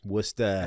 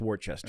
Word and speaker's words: Worcester: Worcester. And then um some of us didn't know how to pronounce Worcester. Thought it was Worchester. And said Wartchester.